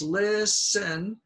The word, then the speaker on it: listen: I listen this is the long word rule it's got two syllables listen and the stress is on the lid so it becomes short listen alright let's continue please